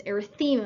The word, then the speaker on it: erythema: I'm gonna try and stress erythema. I'm gonna pronounce it differently, cuz I don't want it to sound like arrhythmia, which is a cardiac situation.